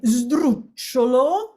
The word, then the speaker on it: sdrucciolo: That is how we describe a word that ends in a stressed syllable followed by two unstressed syllables.